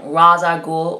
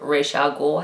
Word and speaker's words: Ra's al Ghul: introduces the eco-terrorists villain Ra's al Ghul or rich al Ghul however you like to pronounce it and these stories also